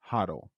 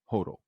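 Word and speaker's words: HODL: stock trading app today it's pronounced hle not Hodel while gbtc did see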